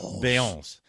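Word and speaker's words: Beyoncé: What's the proper pronunciation? Beyonce. Does she have a sister?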